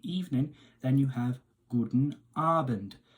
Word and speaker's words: Abend: Additionally, if you're talking to somebody in the evening, then you have Guten Abend. Now, focus on the emphasis on the strain on that A sound at the start of Abend, which means evening.